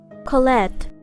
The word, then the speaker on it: Colette: story oh excuse me apparently I was pronouncing the name wrong it is Colette but I like my